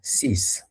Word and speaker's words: six: But in French, when it is at the end of the word, it's going to sound as S.